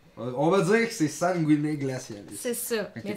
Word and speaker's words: Sanguine: Pas vrai, écoute, c'est en latin, puis la prononciation est variante, mais je pense que la vraie, ça serait sanguiné.